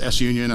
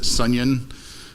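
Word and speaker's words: SUNION: And you've got S set union is S union. I like to pronounce it sunyon or sun ion.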